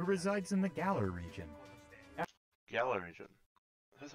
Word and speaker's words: Galar: Galar region. That's how you pronounce it.